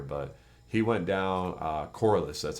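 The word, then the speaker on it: Corliss: a good punter but he went down uh coralus that's how you say it corus Waltman has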